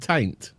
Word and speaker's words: Tain: That's near a place called Taint. No, not Taint. Tain.